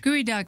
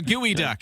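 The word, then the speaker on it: geoduck: Gooey duck.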